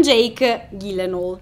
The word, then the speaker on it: Gyllenhaal: dica così non con jake gyllenhaal si lo so è strano dirlo così ma ho scoperto che si pronuncia così chiedete a google infatti